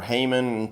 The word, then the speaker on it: hamon: Sometimes you hear people saying Hamon or Hamon, things like that. Hamon is how it's pronounced in Japanese, and so that's good enough for me.